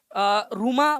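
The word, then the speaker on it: Nkrumah: फिर उसके बाद में फ्रेंड्स क्वामे रूमा बोल सकते हो आप लोग, या कई लोग इसको क्रूमा भी पढ़ते हैं, क्रूमा, क्रूमा बोलो, रूमा बोलो, एक ही बात है वो, ठीक है, वो घाना में प्रोनाउंसिएशन है, क्वामे रूमा या फिर क्वामे क्रूमा, ठीक है। एन को साइलेंट रखना है किसी भी स्थिति में, एन नहीं पढ़ना है आप लोगों ने, ठीक है।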